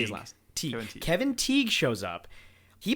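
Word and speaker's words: Tighe: Teague.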